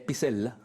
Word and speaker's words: Pisella: Es Pizzella, porque en Italia no se pronuncia la doble L, sino le dices Pizzella.